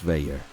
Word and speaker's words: Veyer: Algus Veyer. Veyer, okay, I had a feeling it was like pronounced like the French way.